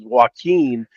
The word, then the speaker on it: Joaquin: Let me say it correctly for you two guys who can't seem to pronounce things, as I was just struggling with the word pick. But Hamilton versus Joaquin here in this 2A Division One matchup.